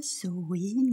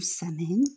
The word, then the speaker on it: Samhain: Bonsoir, êtres du petit peuple, elfes, fées et corrigans, joyeux Halloween, Samhain ou Samhain, comme vous voulez, c'est les différentes prononciations.